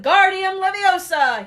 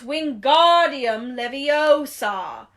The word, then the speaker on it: Wingardium Leviosa: much more luck when Guardium Leviosa he shouted waving his long arms like a windmill you're saying it wrong Harry heard Hermione snap its Wingardium Leviosa make the GAR nice and long you do it then